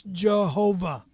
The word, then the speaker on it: Jehovah: Pronounce God's name correctly. It's Jehovah.